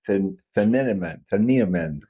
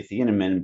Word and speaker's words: Thieneman: I want to say Thieneman, but that sounds right. Yeah, I've heard it said many times now. Thieneman. Thieneman. That's what I wanted to say. One syllable. The IE is just one.